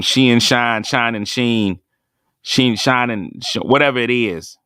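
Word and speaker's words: Shein: shine shine and Shining she in shot there you don't even know how to say it y'all just order your clothes from It Shine Sheen yamo be there y'all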